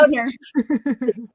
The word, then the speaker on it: Boehner: Boner.